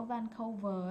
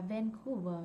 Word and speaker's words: Vancouver: Cái chỗ Vancouver á, ông bà đọc là Vancouver thì cái chỗ đó người ta là Vancouver. Okay, it should be Vancouver.